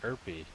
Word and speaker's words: Erpy: So all the birds are Erpy. To rhyme with chirpy, one supposes.